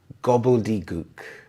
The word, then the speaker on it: gobbledygook: We have the schwa sound here, as in a, gobbledygook.